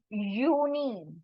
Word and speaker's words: Juni: as ju n i but how do we pronounce it it's uni because J sound will be the your sound o n and then I is called as e so uni this is not Juni or junai this is uni uni uni uni means June